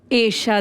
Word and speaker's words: एशा: हाँ, बारिश में ईशा देओल, आपके नाम का प्रोनाउंसिएशन एशा देओल। ऐशा थोड़ा अलग है। अलग नहीं है, मतलब बोलने में ईशा, हमको लगता है ना कि सबका नाम ईशा ही होता है। एशा है, एशा, और एशा एक संस्कृत शब्द है।